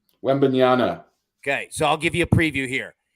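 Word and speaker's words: Wembanyama: total wins okay so uh how do you pronounce wimby's last name wendbanyana okay so I'll give you a preview here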